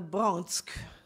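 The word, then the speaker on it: Bronx: Even city place names were Yiddishized, pronounced Nevyork and the Bronsk.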